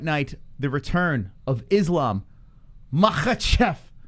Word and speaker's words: Makhachev: for the fight night, the return of Islam Makhachev.